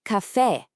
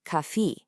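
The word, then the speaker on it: café: So it's cafe. a nice bright open e sound. It is not kafi.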